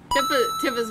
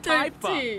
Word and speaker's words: Tifa: Why can't you have a simple name like Typha? It's Tifa. I always thought it was Tifa.